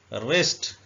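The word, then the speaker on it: wrist: जाना रप रप का मतलब होता है लपेटना रेस्ट रिस्ट उर्दू में ऐसे लिखेंगे रिस्ट का मतलब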